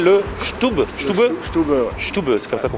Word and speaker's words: Stube: Stube, c'est comme ça qu'on prononce.